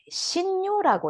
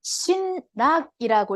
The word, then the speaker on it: 신요: 아미타 부처님의 본원을 보시면 설화득불, 지방중생, 그 다음에 신요라고 있습니다. 신락이라고 읽지 않고 신요라고 읽습니다.